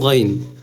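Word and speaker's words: غين: আওয়াজ বের করি না ঠিক ওরকম অর্থাৎ অনেকে গইন বলেন গইন গইন বললে কিন্তু বাংলা অক্ষরের গ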